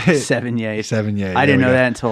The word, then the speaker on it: Sevigny: Sevigny.